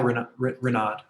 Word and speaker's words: Renaud: Yeah, Renaud. I don't know if I'm pronouncing that correctly. Yeah, you pronounced it right.